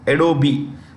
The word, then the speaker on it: Adobe: is the CE of adobe the E is pronounced Adobe okay CEO and